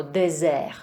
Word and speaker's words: dessert: Takže pozor na slovíčko dessert. Dessert, když jsou tam dvě s, vyslovujeme to jako s a je to dessert.